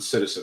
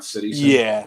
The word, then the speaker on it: Cityzen: Is it Citizen? You guys pronounce it Citizen, right? Not Cityzen.